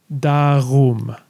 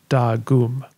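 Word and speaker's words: geardagum: In this context, the letter G is pronounced as what's called a voiced velar fricative. This is the r sound that some people make when they say ugh. So darum, not dagum.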